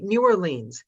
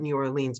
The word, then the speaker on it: New Orleans: on youtube new orleans it depends if you're here or if you're there if you're from london you pronounce it new orleans if you're from here you can pronounce it new orleans new orleans so if i'm doing new orleans and i want it authentic it's new orleans well it's one word